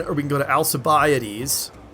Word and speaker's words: Alcibiades: we can go to Alcibiades I'm already said about the extra syllables yeah that's also bioody not alta babe Alcibiades and what's appear settings that's